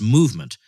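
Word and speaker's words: MVMT: you through the summer MVM t pronounced movement has hundreds of premium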